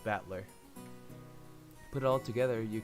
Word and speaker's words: Battler: That is made up of the characters for fight and person, and is pronounced Battler. Put it all together, you got Ushiromiya Battler.